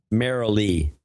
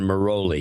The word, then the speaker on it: Marilee: Marilee. Is her name Marilee? Yeah. Oh, I like Marilee much better than Mimi. She doesn't, because as a kid, everyone would pronounce it Maroli.